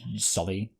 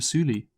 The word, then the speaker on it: Sully: I do know, like, it is pronounced Sully, properly, but hey, I like that from Cameron, that his name is pronounced differently by the Na'vi.